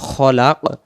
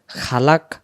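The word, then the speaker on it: خلق: মনে একটা সাকিন দেব উচ্চারণ হবে খলাক খালাক খালাক পড়লে খ টা খা হয়ে যাবে আরবিতে ইস্তিলার নামে একটি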